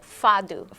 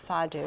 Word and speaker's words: fado: Fado. Fado. Fado, Portuguese Okay.